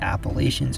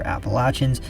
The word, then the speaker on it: Appalachians: again until it reaches the appalachians or appalachians the pronunciation really depends on where you live where it then winds